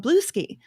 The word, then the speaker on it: Bluesky: She will totally mispronounce. Bluesky, like Bluey. No, it's Blue Sky. So Blue Sky, Yeah.